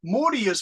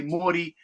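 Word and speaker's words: 森: study Chinese because the the Chinese characters here is Lin L I N and it means Forest so that's Lin but in Japanese it's Mori so Chinese say Lynn Japanese say Morty and you can see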